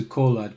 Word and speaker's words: Kolod: the name of change I'm going to pronounce the colad k-o-l-o-d I think that's the correct way to pronounce it he attended high school